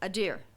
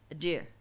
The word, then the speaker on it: adir: word strength which is adir i might not be pronouncing it right so forgive me if i'm not but it's spelled a d i r in the transliteration a deer so adar adir they're